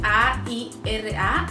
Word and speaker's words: Aira: Se escribe A-I-R-A, Aira.